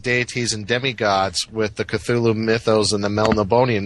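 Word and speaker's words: Cthulhu: back to call cthulu we all say cthulu but in one of his letters he pron says oh it's not meant to be pronounced it sounds more like sneeze with a glossal stop you know culu okay okay you know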